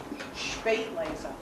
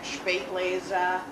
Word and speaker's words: Spätlese: Spätlese. In German, the S with a consonant is pronounced sh. So it's not Spätlese, it's Spätlese. Spätlese means 7 extra days on the vine.